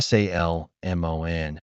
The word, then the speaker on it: salmon: If you pronounce every letter in this word, you'll sound very strange in English. There's an L in the middle, but native speakers never say it. When you see Salmon, it makes perfect sense